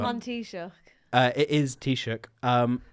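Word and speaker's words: Taoiseach: you want to know how to pronounce t- shook think the drink tea and what you do to an oyster shook t- shook and what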